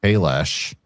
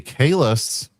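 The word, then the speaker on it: Kahless: Now it's supposed to be Kalis and Kronos. It's always been Kalis and Kronos until they forgot how to pronounce it in Into Derpness.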